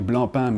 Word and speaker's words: Blancpain: For some, again, the magic of the French language, Blancpain, because I fully understand the desire of pronouncing this C, but no, it's a silent C, and as a little side story, Blancpain means white bread, and yes, there was a Mr.